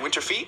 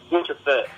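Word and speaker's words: Winter Fête: You performed at, and I'm saying winter, is it Winter Feet? How do you say that? Winter Fet. Fet, okay. I'm from Louisiana, but I'm still, you might as well not be. Like a tete-a-tete. Okay. It's about the same.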